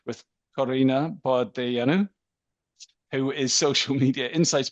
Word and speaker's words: Corina Bordeianu: So, Corina Bordeianu, the right Romanian pronunciation.